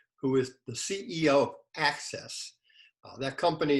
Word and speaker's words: Axes: is the ceo of access that company if you see it in writing is a a-x-e-s but you pronounce it a-c-c-e-s-s earl welcome again good